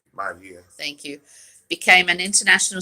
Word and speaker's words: Maivia: And in which Rocky, how do you pronounce his last name? Maivia.